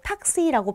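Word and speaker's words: Taxi: 그래서 마치 복자음처럼 여겨지기 때문에 그 앞에 있는 모음이 단음이 됩니다. 그래서 택시를 독일어로 탁시라고 표현을 하는데요.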